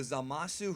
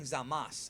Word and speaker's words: Zamasu: sounds like they're saying Zamas. So, is it Zamas or Zamasu? Well, that's the the thing with Japanese is that a lot of those U sounds are typically very silent or just soft.